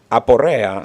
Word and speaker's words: Aporrea: Aporrea. Spell it.